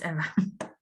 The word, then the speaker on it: Eva: And how do you say your name? Is it Eva? Yeah, it's Eva. Well, thank you so much.